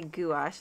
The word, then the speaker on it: gouache: watercolor and gouache paints are gouache I should say I like to say gouache like two syllables but they are also